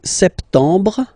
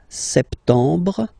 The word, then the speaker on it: septembre: So septembre, septembre. Remember this em en septembre. You don't insist on the final septembre, septembre.